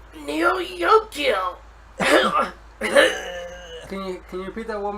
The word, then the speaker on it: Neo Yokio: surprised me, is called Neo Yokio. Can you repeat that one more time? Neo Yokio. It's as it's spelled, Neo space Yokio, or how as YOKIO.